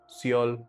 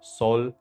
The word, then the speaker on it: Seoul: ऑफ साउथ Korea is सियोल और सोल whatever you pronounce it I will pronounce it एज सोल फॉर the rest of the video because वहां जब मैं गया था तब लोग ऐसे ही बोलते थे।